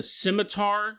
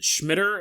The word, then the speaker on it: scimitar: A scimitar. You know those big Arabian swords that are curved? Schmitter is how I used to pronounce it when I was a kid.